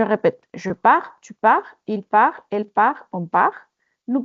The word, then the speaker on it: part: Entonces, primeras personas con S, terceras personas con T. No la pronunciamos. Je répète. Je pars, tu pars, il part, elle part, on part.